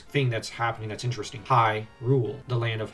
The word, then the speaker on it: Hyrule: that's happening that's interesting High rule the land of h y is pronounced like h i g h rule of course we know